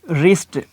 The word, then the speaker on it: wrist: तो इसकी voice silent हो जाएगी। मिसाल के तौर पे जैसे हम कहते हैं कि रिस्ट, WRIST, रिस्ट, तो अब देखें कि यहाँ पे